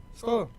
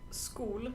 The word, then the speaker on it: Skål: It's actually not Skål, it's Skål. Skål. I'll write it in the It's like comments. A with an O on top. It's pronounced Å. Oa. Like Omi. Like Omi, who is underneath the table right now. Oh, it's Skål, not Skål. Yeah. The A is more correct visually, but Yeah. pronunciation is with O.